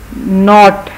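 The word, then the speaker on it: knot: नॉट, गिरा लगाने को कहते हैं, इसमें भी नॉट में के साइलेंट है।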